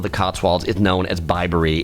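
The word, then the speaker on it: Bibury: me refer to this in the video as bbery I have a four-year-old daughter I was thinking about bibs so that's where that came from but it's pronounced bbery so just know that if you are visiting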